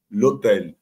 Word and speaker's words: hôtel: Você diz assim, l'hôtel, né?